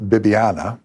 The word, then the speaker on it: Bibiana: behind it well the saint original name is pronounced bibiana but we know her now as saint vivian